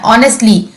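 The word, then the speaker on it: honestly: ऑनेस्टली एच जो होता है वो साइलेंट होता है।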